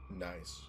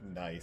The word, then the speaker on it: gneiss: Nice. Or gneiss. Nice, sorry. At least that's how I've always assumed it's pronounced. No, I think that is correct.